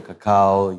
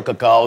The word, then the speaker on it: cacao: People say that wrong all the time. Cacao, yes. Cacao is the right way to say it.